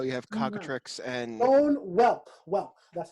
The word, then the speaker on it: whelp: Bone whelp. Whelp. That's how you pronounce it.